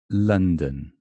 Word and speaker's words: London: Remember this funny upside down V is London. And it's exactly the same as this upside down E. Yes, exactly the same sound. The only difference is that when it's stressed, here's the stress, it's the upside down V. And when it's not stressed, it's the upside down E. Don't ask me why.